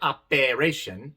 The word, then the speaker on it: operation: La palabra operation tiene una sola E, pero viene en la sílaba no tónica, no acentuada, y por eso se pronuncia A. Operation. No se pronuncia operation, no. Operation. Operation. Y entonces, como repaso, el sonido largo de la letra E es I.